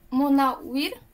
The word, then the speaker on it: Munawir: Repeat after me. Mo. Mo. Mo. Na. Na. Wir. Munawir.